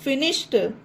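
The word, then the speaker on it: finished: Word के एंड में, तो इसमें भी ED जोड़ने पर टा उच्चारण बनेगा डी का, तो फिनिश्ड।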